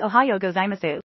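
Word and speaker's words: おはようございます: pronunciation of good morning in Japanese the English pronunciation of good morning in Japanese is Ohio gozaimasu what are the capital cities of New Zealand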